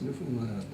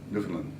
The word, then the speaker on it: Newfoundland: How do you pronounce Newfoundland? Newfoundland. Newfoundland. You're not supposed to accent any one of the three.